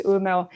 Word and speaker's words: Umeå: Thank you, and I think you pronounced it quite well, actually, so it's Umeå.